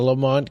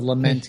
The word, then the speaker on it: Lament: The Lamont configuration? I think it might have been like a mispronunciation of the Lament configuration.